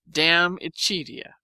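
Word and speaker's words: De Amicitia: We've finished Livy and De Senectute, and are now engaged with Diamicitia, pronounced Damicitia.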